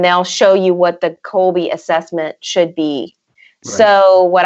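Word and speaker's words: Kolbe: i know that you are familiar with the colby we use the colby um and we use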